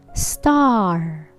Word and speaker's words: star: me allergy good job star star open your mouth ah star okay if you don't open your mouth in pronouncing this word it will sound like stir stir take notes there